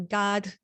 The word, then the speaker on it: gat: And I didn't realize that the hats, which is called a god, but it's spelled GAT in English.